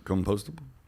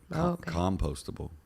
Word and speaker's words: compostable: compostable so like come compostable how do you say it i just put too much emphasis on the oh compostable okay i don't know why